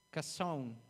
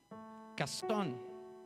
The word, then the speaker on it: Chazón: Se escribe Chazón, y se pronuncia Cazón. Y eso habla de la visión de Dios para ti. No calzón, hermano, cruz, no, Cazón, ¿ok?